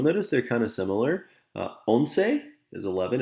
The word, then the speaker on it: once: they're kind of similar onsei is 11. it looks like once but it's pronounced as onse 12 13 14 kinsei